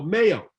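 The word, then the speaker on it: MAO: So Mayo. First of all, the word Mayo, and it's spelled M-A-O, not like mayonnaise.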